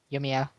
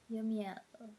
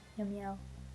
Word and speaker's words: Yomiel: Yomiya. Yomiel. That is his true name. Wow. I'm probably never going to be able to properly pronounce that. Yomiya, it's not that hard. Yomiel.